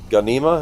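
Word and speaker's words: Ghanima: New film Warner Brothers and Legendary Caro I and and uh, Gana, am I saying that right? The Ganima. Yes. Ganima.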